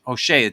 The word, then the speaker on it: Hosea: beginning of chapter one of hoseah or H HOSA technically is the proper pronunciation and let me just say this uh